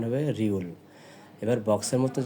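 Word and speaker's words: 리을: গিয়ে আবার নিচে চলে ডানে এসে এটা হলো উচ্চারণ হবে রিউল এবার বক্সের মতন যে বর্ণটা দেখতে পাচ্ছেন এটা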